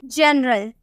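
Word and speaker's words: general: लेकिन अगर हम बोले जनरल, क्या हम बोले जनरल, जी के बाद आपको ई नजर आ रहा है ना, तो हम इसे प्रोनाउंस करेंगे जनरल, हम बोलेंगे जौ में प्रोनाउंस करेंगे।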